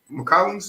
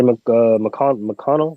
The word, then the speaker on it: McConnell: McCollums, however you say his name, that the dude on the Pacers. TJ McConnell. McConnell, there you go.